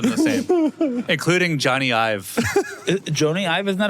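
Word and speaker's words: Jony Ive: Of all the words that he said, I wouldn't have pronounced any of them the same, including Johnny Ive. Joni Ive, isn't that how you say his name?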